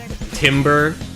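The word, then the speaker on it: timbre: Zoom in music tim tim tim timber timber. It's just timber.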